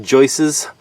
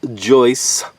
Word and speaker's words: joist: It's not joices. Joices is not a word, it's Joyce. And like it's not Deerses or Elkses.